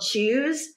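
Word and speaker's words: Chuze: a a f chain called choose and it's spelled c h u Ze it's just so lame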